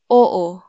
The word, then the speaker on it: oo: we say oh again that is pronounced as oo oh so it's two syllables oh halimbawa your friend